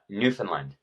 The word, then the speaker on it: Newfoundland: Because okay, that's how it's spelled. What is it? Newfoundland? Newfoundland.